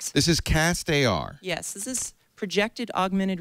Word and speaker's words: CastAR: Now, people who contribute to the Kickstarter project, will they get a pair of cast AR glasses? Am I saying it right? Is it castar or cast? Cast AR.